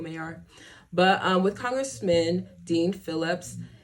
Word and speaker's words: Maher: I said, why I say his last name like that? Bill Maher? Maher? I usually say it like Bill Maher.